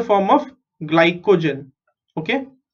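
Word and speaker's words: glycogen: Okay GLY ग्लाई CO को GEN जेन ग्लाइकोजन. सो से this word after me so that your pronunciation are correct. Okay ग्लाइकोजन ग्लाइकोजन.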